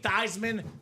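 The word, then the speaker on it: Theismann: So we can say Thyisman for the Heisman.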